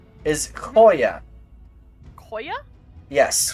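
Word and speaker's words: Khoya: Her name is Koya. Koya. Yes. Coya. So, so she'll like in if you were to spell it with English lettering, K H O Y A, which is abyssal for lost.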